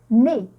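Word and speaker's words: nez: Et, je peux prononcer et, mais en écrivant EZ. Et, exemple, regardez là. Qu'est-ce que j'ai comme lettre? Hein? J'ai la lettre Très bien, j'ai la lettre E et la lettre Z, mais je vais la prononcer. Très bien, on va la prononcer né.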